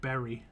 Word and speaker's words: Bury: rather than Woodbury but there's a place in the UK called that is called b-u-r-y I'm pretty sure and people just call it Berry so I'm pretty sure